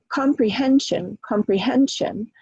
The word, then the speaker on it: comprehension: But if we look at comprehension, comprehension. So comprehend is the primary stress, com is the secondary stress, and shun is tertiary. Pre is the weakest syllable in that word.